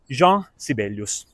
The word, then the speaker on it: Jean Sibelius: E quindi, secondo me, va pronunciato alla francese, Jean Sibelius.